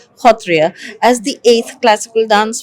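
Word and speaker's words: Sattriya: of the picture and made Satria the uh which in Assam is pronounced as khatria as the eighth classical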